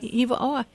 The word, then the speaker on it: Hiva Oa: her in her new book um left at Hiva OA is that my pronouncing it right yeah Eva aw and and it's an amazing story but it's